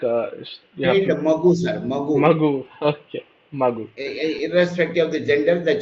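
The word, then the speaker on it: ಮಗು: you say child like uh mag magu okay magu irrespective of the gender the child is m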